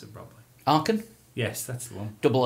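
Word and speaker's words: Aachen: There's a when I was in um uh Germany, I went to a place called Arkham. I can't pronounce it properly. Arkham.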